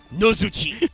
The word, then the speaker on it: Nozuchi: Because in Japanese, this is just Mago Shinjo Nozuchi. Like, literally just N-O Zuchi. In the TCG, this is spelled No-Zu-Chi. Like, double vowels all the way down. It is Yeah, awful. no. Not chi as in C-H-I. No. Double E. C-H-E-E.